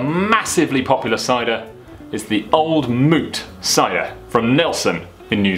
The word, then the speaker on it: Old Mout: popular cider is the old moot SIA from Nelson in New Zealand okay so old meat that is definitely pronounced because it's meant to rhyme with fruit started up in 1947